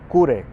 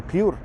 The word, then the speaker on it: Cure: La película que supone el punto de inflexión es Cure, o Cure, depende si lo pronunciamos en japonés o en inglés.